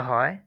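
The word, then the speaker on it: ح: সংক্ষিপ্তভাবে বলি, এখানে হা এটা মাখরাজ হচ্ছে হলকের মধ্যখান থেকে।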